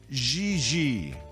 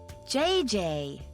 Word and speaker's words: Gigi: Gigi. JJ. En français, you pronounce G like J and J like G. She may very well be JJ in America, but in France, she is Gigi.